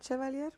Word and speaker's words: Chevalier: name wrong, which I'm like, they keep saying Chevalier. It's Avila Chevalier.